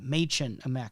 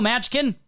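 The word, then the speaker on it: Mädchen: You know, my name is pronounced Machen, right? And he's like, I know, Matchkin.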